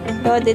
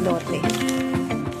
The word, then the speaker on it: Lotte: Lode daw ang pronunciation ko, hindi Lote.